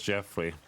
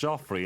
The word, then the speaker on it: Joffrey: 10% wardrobe 90% confidence Joffrey is pronounced the same as Jeffrey no it's not Joffrey is clearly pronounced jofrey and Jeff could really